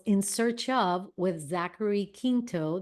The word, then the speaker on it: Quinto: Search Of with Zachary Quinto. That's the way I pronounce Quinto, by the way. I don't know if it's Quinto or Quinto, but Quinto's the Spanish way.